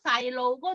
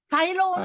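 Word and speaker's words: 細佬: 따이따이, 사이다이고 사이로우고 두 가지입니다. 사이로, 사이로우는 사이로. 나보다 덜 늙은 애예요. 한 분이. 사이롱. 잘하셨어요. 사이로우.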